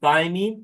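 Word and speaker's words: thymine: we have t so T stands for thyine that's how you pronounce it and then U stands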